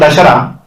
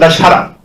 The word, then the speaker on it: Dussehra: dasar or dasar because in different parts of India it has been pronounced differently in South India it's called dasar but in our side in North India it's called dashara so here I will